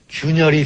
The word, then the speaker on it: 균열: 걸 잊어먹는 경우가 많은데 거북 귀자를 균열이라고 할 때는 균이라고 읽습니다.